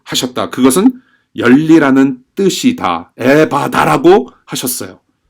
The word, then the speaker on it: 에바다: 앱의 바다 라고 하셨다 그것은 열리 라는 뜻이다 에바다 라고 하셨어요 예 열리리라 영어로 원문으로 bof 수동형 입니다 수동형 b 오픈 여러분들 에바다 그타 같이 한번 여러분들이 어 각자 계신 곳에서